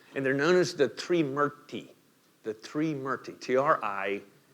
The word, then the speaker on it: Trimurti: they're known as the Three Murti. The Three Murti, T-R-I-M-U-R-T-I, right? And that first syllable gives you a clue, the Three Murti, right? We have a few words in English that start with T-R-I.